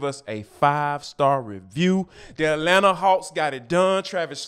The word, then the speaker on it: Atlanta: And last but not least, our boy Anthony Edwards is straight up Atlanta. Yes, I meant to not pronounce that second T.